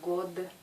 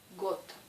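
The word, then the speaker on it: год: Et ce mot se prononce got. C'est pas god, got.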